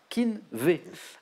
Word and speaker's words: Keen'V: encore plus rapide et ça se prononce exactement comme ça Keen'V si imagine parti pour